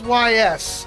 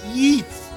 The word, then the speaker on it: Ys: Sorry, the old school me, the child in me always called it YS back in the day, and then until someone corrected me, no, it's pronounced Yeez. Like geese.